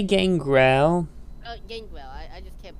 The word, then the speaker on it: Gangrel: AEW still paid Garjo for the cancel. Gangrel. It's not Gar. It's like you're trying to say Gargamel. Sorry, it's hard to say his name. It's not. Gangrel.